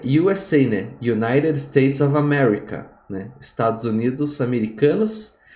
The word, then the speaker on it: USA: você vai ver que o u fala you então uma bandeira dos Estados Unidos fica a usa Flag a usa Flag entendeu